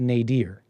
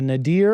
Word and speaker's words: nadir: I I I I think it's pronounced Nader sounds Arab that's not